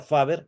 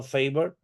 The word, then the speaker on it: Faber: como swc como fa aunque los cursis la denominan fa no faber es un apellido alemán y se pronuncia faber no fav eh favor es favor es